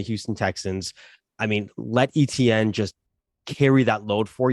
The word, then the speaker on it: Etienne: And if Etienne, I know everyone's cussing me down for how I pronounce Etienne. It's ETN. I say Etienne. Same difference.